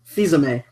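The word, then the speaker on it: Fils-Aimé: Fizame.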